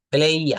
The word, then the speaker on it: player: প্লে football, প্লে না, এটা উচ্চারণ হবে প্লেই। প্লেই, Player. প্লেইয়া, হ্যাঁ, প্লেয়ার হবে না, প্লেইয়া।